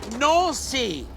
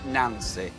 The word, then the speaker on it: Nancy: so today we are on our way to no see and it's actually any ncy it's not pronounced Nancy the coach is traveling 130 miles from Luxembourg to not see a city famous for its Art Nouveau architecture